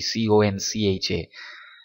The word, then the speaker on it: concha: koncha whatever you say the spelling is actually c-o-n-c-h-a so that can be pronounced any anymore concha so this part i